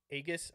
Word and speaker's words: Aegis: And the app that I like to use is Aegis, I think it's pronounced, A-E-G-I-S.